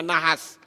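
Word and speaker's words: נחש: Nah sekarang kita lihat kata nahas, ya, nahas, nun, het, shin, ini membacanya nahas, dan kata Mesia.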